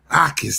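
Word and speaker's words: Jacas: Ais the J is silent.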